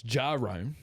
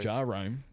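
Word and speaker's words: Jahrome: Let's pronounce his name right, though. It's Jarome. Jerome, Yeah, sorry. Jarome.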